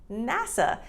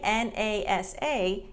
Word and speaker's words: NASA: NASA. Now this one we don't say NASA, it's NASA. NASA. And this is the National Aeronautics and Space Administration, NASA.